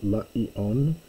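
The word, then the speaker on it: λήιον: So another slightly obscure word here, the cornfield, laion. Diaeris is telling you it's two syllables there.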